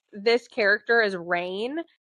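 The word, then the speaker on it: Raihn: fantasy that like I'm pronouncing this character as rain it's spelled r a i h n how would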